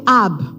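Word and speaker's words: אב: Le mot père est prononcé ab.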